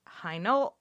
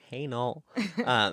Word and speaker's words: Hainault: not a single person told me the same pronunciation. So, Hainault.